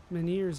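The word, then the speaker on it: menhir: I see some more, Meneers over there.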